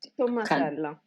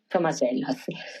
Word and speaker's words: Tommasella: How do you pronounce it? I'm always... Tommasella. Tommasella.